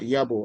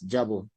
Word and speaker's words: Yabo: The place is called Yabo and not Jabo which I heard you pronounce.